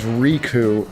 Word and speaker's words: Riku: He says Riku and it's R I ku.